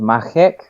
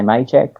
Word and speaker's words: Machek: now it's check what's what's the correct correct pronunciation you need to involve a lot more saliva and it's called makkac Oh so Matt chat quirks good a lot of people say may check or some random variation of that it's good